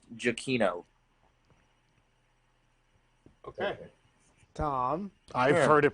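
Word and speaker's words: Giacchino: of space mountain his last name was actually pronounced jaquino okay tom i've heard it pronounced on television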